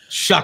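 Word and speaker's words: Shough: It's no longer Desmond Ridder, but Tyler Shuck in the future. Shuck.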